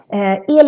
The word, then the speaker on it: el: El is actually a shorter version of the longer word elektricitet. In any case, here the E is very long, so it sounds like el. How you pronounce this word